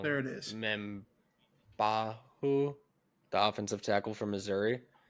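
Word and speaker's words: Membou: first round pick Armand Meu and I'm going to pronounce this wrong. There it is. Meu, the offensive tackle from Missouri. Um, Membu, thank you.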